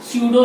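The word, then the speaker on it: pseudo: दूसरा पॉइंट बोल सकते हैं कि they are true solid, they are true स्यूडो solid, PSEU डुओ, यानी P साइलेंट है यहाँ पे, स्यूडो solid, they are स्यूडो solid.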